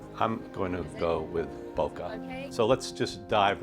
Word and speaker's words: bokeh: I pronounce it bokeh. There's a debate in the film world, is it bokeh, bokeh? I'm going to go with bokeh.